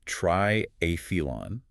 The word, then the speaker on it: triathlon: competing in three sports, the temptation is to use a hard t sound for the the but it uses the standard the sound. It's pronounced triilon with the stress on the second syllable. This maintains the clarity of the Greek root try meaning three and a meaning contest.